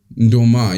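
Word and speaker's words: nduma: That girl's been having, instead of having pineapple, she's been having Duma. But back then we also had really good music, right? Oh, it's actually pronounced Doma, isn't it? Ndoma, yeah.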